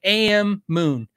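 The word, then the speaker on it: Ammoon: saying it wrong, the Amun Nano Looper. I've owned the Amun Nano Looper. I'm probably saying it wrong, guys, but it's AMMOO. It's just like AM Moon.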